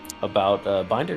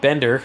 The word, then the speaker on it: Binder: Yeah, our very own Hades has a published article about Binder going from Moto3 to GP. Bender, sorry, I just got corrected. You need to pronounce it completely correctly.